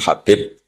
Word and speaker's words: Habib: yang nulis Abi Abdurrahman Habib asulami itu di harakatnya kitab itu ada yang nulis hubb Yang benar Oh enggih yang benar itu bacanya habib habib itu Sulami itu